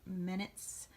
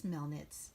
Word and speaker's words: Melnitz: from Lost Boys, Janine Minutes from Ghostbusters, Beetlejuice from Beetlejuice. Did I just mispronounce Janine's name? It's Melnitz. Anyway, Egon Spengler from Ghostbusters.